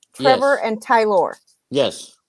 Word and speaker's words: Tylor: Trevor and Tylor. Yes. And that's how you say his name, Tylor.